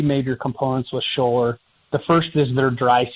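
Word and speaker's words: Schoeller: Scholler.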